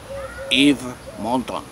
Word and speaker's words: Yves Montand: Yves Montand. Ahí sí. Muy bien. Yo hubiera jurado que lo hacía bien. Pues no, porque tú pronuncias ciertas letras por costumbre en castellano de leer.